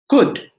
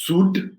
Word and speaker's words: could: c-o-u-l-d be pronounced as sud even i if you look at the l is silent right so s c